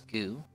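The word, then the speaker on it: ぐ: notebook now this is GU or GU you pronounce this as GU right ku as normal then add your document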